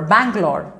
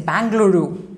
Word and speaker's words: Bangalore: Okay, but there is this one international pronunciation, like for Bangalore, we don't say Bangaluru. In BBC, you will not hear this word, Bangaluru. They say Bangalore.